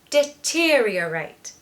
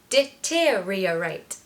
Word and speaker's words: deteriorate: over again reiterate reiterate now you need to add in the first part which is just deter deteriorate deteriorate it's easy the other month there